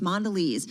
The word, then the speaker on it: Mondelez: ceos of so many of these different companies mondelez uh our team catching up did i say